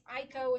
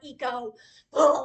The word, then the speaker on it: Iko: It's Aiko, it's not Eco. Wait, there's an I what? Anyway, there's a robot. Her name is Iko. In Chinese, it is pronounced Aiko, but even the author pronounced it Eco, and it's wrong.